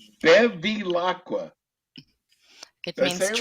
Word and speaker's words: Bevilacqua: how many times she tells me how to pronounce her name. Let me introduce you to our expert attorney, Natalia Bevilacqua. That was really close. Bevilacqua. Bevilacqua.